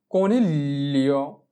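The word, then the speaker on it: coniglio: এরপরে কনিলিও, কনিলিও মানে হচ্ছে খরগোশ। কনিলিও, চি ও কো, এন ই এল এ। আমরা জি কে এল এ ধরে উচ্চারণ করব।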